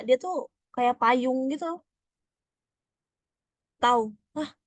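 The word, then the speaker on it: τ: Tahu. Hah, bacanya tahu.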